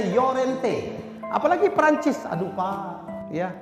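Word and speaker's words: Llorente: jaj Miharja Lorente Dou l bacanya yorente apalagi Perancis Aduh pak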